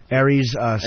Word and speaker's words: Aries Spears: Aries, Spears.